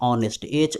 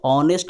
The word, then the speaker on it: honest: जैसे आप लोग शुरू से ही पढ़ते आ रहे हैं ऑनेस्ट, HONEST ऑनेस्ट होता है ना, तो क्यों एन का यूज किया, चूँकि यहाँ एच से लिखा हुआ है लेकिन एच साइलेंट है, तो इसलिए ऑनेस्ट आप ऐसे लिखते हैं